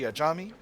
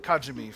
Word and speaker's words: Ajami: Sorry, I was calling the state Iraqi Kajimi for a long time. Uh, so I'm trying to adjust to pronouncing it something closer to to pronouncing it at least like it's spelled.